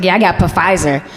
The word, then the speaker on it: Pfizer: My mama gonna call me, she's like, yeah, I got Pfizer. Mama, the P is silent.